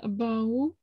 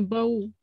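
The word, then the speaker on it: בָּאוּ: Вахары хэн бау. Как ударение? Бау. Бау. Бау, халавим, лаавод, эт аводатам, в охель, моэт, лифней Аарон, лифней Банах.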